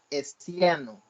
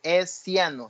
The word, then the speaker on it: hessiano: con el nombre del hessiano. Así como se oye, hessiano, se escribe con H al inicio y lleva una doble S, hessiano, doble S y con H al inicio.